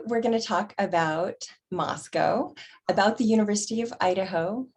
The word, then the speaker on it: Moscow: science in dietetics so moscow is one of the cutest little towns in idaho it rhymes with let's go and has a population